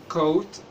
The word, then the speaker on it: coat: وزي كمان كلمة coat coat coat coat يعني معطف يعني جاكيت coat coat coat.